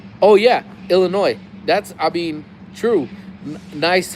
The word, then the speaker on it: Illinois: Um, People say Illinois is wrong. The S is silent. Oh yeah, Illinois.